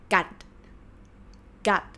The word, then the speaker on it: กัด: So กอไก่ g sound. สระอะ and ending consonant is ดอเด็ก or d sound. That's why this word is pronounced gut.